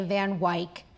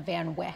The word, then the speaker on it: Van Wyck: Why do you say Van Wyck instead of Van Wyck? Who comes into our house and corrects our pronunciation?